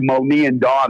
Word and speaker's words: Moni and Dawn: You bring up a little bit of a case for the 2, Moni and Dawn. That's how you pronounce their name.